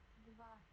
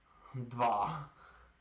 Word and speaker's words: два: Attends, comment ils prononcent ça? J'ai pas de son. Два. Dva.